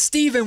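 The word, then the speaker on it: Stephon: It's Steven when they spell it with PH cuz Stefan Stefan Castle just screwed it all up for me.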